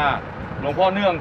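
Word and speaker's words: หลวงพ่อเนื่อง: เนื่อง ถูก ต้อง และ อ่าน ว่า หลวง พ่อ เนื่อง โก วิทย์ นะ ครับ ก็ คือ ไป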